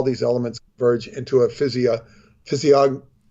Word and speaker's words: physiognomy: These scholars believe all these elements converge into a physiognomy.